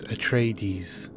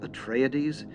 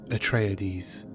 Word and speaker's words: Atreides: a common way of pronouncing this word is a tradies but Frank Herbert pronounces it Atreides Atreides Atreides Caledon Canada is home world's House Atreides